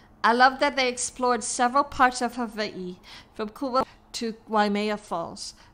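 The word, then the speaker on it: Hawaiʻi: is how they keep mispronouncing Hawai'i. The W is pronounced like a V. That's the way the Kanaka Maoli, the Kama'aina, the locals pronounce it.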